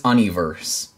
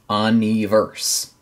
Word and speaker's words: UN2VERSE: It is Un2Verse. Un2Verse. So that's pretty cool. That's pretty cool. Apparently the two is like an E sound in Korean.